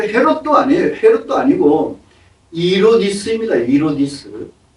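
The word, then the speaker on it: Ἡρῴδης: 히브리 발음이 제루바벨 성전이 그리스 그리스도 당시에는 헤롯 성전으로 계축되고 있었어요. 그 헤롯도 아니에요. 헤롯도 아니고 이로디스입니다. 이로디스. 헤롯이라고 하는 것은 라틴어 발음이에요. 로마. 로마 발음이에요.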